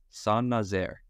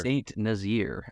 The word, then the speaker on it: Saint-Nazaire: I think it's pronounced Saint-Nazaire or something like that. Sure. Saint Nazir, as I would say if I said it not knowing anything about where it was.